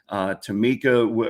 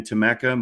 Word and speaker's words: Tameka: Tamika, or pardon me, I said it wrong again. Tameka, my apologies.